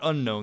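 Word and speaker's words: Unown: Because if we're talking about Unknown, it's not unknown. There's no K. So clearly you're not going to pronounce it like the word unknown.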